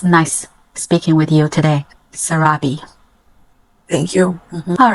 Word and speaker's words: Sarabi: we can call you you can call me Sarabi s Sarabi yes how to spell it s a r a b i Sarabi